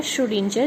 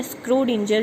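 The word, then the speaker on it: Schrödinger: श्रोडिंजर या स्क्रोडिंजर, जो भी आपने प्रोनाउंस करना हो, इट्स योर विल।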